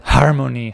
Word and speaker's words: harmony: to say the word harmony harmony I have to pronounce that H then in Italy we don't use so Harmony it doesn't